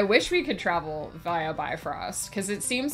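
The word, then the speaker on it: Bifröst: um dang I wish we could travel via bifrost because it seems like that's pretty instantaneous and I would be I would be really happy um it's pronounced B Frost is it now that would make sense that's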